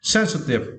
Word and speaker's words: sensitive: for this verse right you need to stretch the first syllable send send sensitive okay so good and